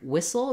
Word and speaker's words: whistle: is the same and the letters w h just say the sound so again silent letters here we can think about the word wish to help us with this has the same Beginning Sounds I wish for a whistle same thing with first syllable stress along with sound and short reduced Soul whistle once you can say